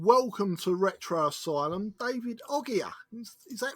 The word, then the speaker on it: Oghia: Hello and welcome to Retro Asylum, David Oghia. Is that right? Did I pronounce it right that time, David? Perfect. Oghia, it's perfect. And let's explain to our